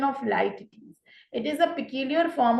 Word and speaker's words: Litotes: तो this is the pronunciation of Litotes.